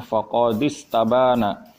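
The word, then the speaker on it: فقد استبان: Faqad istabana, dan sungguh telah jelas, faqad istabana, ya sebenarnya ini hamzanya hamzah wasol, bacanya sebenarnya faqad istabana.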